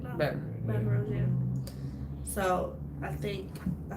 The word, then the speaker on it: Baton Rouge: Baton Rouge, yeah.